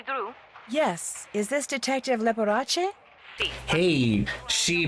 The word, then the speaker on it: Leporace: Yes, is this Detective Leporace? Hey, she pronounced it correctly.